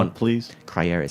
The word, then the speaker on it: Les Crayères: champagne, has to be Les Crayères, which is Spell it, please. Crayères is Crayères.